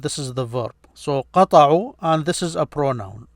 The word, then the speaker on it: قطعوا: قطعوا. No, it's قطعوا. This a is not pronounced here.